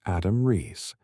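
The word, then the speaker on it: Adam Riess: at the Australian National University, with Adam Rees, pronounced Adam Rees, playing a crucial role in the data analysis.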